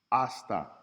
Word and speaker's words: hasta: ha notice oon words when a word starts with an H start with the vowel as the first syllable so we have I hasta yo ha not hi or hey not hasta hasta and oh ha we just skip over that H as a letter in the word it just does not